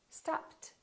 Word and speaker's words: stopped: last letter is a voiceless sound we keep the T stop stopped work work if the